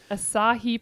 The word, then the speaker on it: Asahi: it every night Wow but the whole rings asahi pronunciation discussion has almost killed me it is pronounced